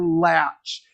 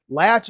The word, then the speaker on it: Latsch: You will be meeting Ambassador Latch. Latch is an 8-year-old male bald eagle from Winona, Minnesota, and his name is spelled Latsch.